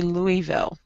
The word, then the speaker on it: Louisville: So it's like Louis the Fourth, Louis the Fifth. Uh-huh. You know, the king. Uh-huh. Yeah, so we say Louisville. Okay, Louisville, mm-hmm. Slugger Museum and Factory in downtown Louisville.